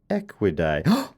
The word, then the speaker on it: Equidae: A zebroid is a cross between a zebra and any other member of the family Equidae, pronounced Equidae.